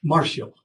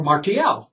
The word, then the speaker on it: Martial: by the Roman poet Marshall or martial depend on how you'd like to pronounce it who complained that another